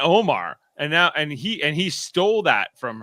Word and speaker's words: Omar: I was the other way, because if I look at all the official stuff, it's always spelled Omar, and that to me is Omar, not Omer.